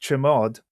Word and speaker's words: chmod: Existing permissions are changed using chmod command, sometimes pronounced chmod, which stands for change file mode.